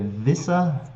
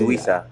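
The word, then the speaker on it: Wissa: He's a 6.8 million forward, and is it Wisa? Is it Visa? It's Wisa, It's yeah, with the Wisa.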